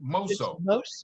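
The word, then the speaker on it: mosso: us all about that monso mouseo is that how you say it mozo which is a musical term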